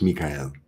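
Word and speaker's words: מיכאל: But in Hebrew, it's Mikael.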